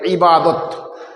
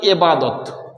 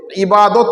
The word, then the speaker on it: ইবাদত: আরাধনা এটাকে আরবিতে বলে ইবাদত কিন্তু অনেকে আমরা বলে থাকি এবাদত এবাদত কথাটা না বলে ইবাদত বলাটাই সঠিক তো আমরা এতক্ষণ আলোচনা